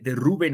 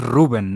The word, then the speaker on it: Rubén: y lo dices bien porque es ruben no Rubén verdad porque tiene acento en la u ruben amorín nuevo técnico